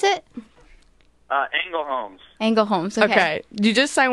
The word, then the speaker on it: Ängelholms: How do you pronounce it? Ängelholms.